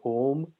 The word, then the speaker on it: Om: this very simple syllable, which in Buddhism is often written as OM, and in yoga and in the Yoga Sutras is discussed as AUM.